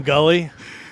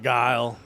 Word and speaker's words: Guile: When we were kids, we called him Gully. Yeah, we would call him. I'm gonna be Gully. I'm picking Gully. Now, We didn't know how to pronounce big words like Guile.